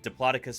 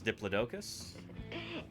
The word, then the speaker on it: Diplodocus: Likewise for the other song with Diplodocus versus Diplodocus.